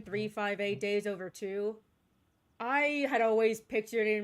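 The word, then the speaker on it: 358/2 Days: Yeah, apparently that is the correct pronunciation. 358 days over two. I had always pictured in my head as 358 over two days.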